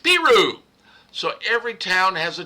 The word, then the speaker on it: Peru: The people who live there call it Peru.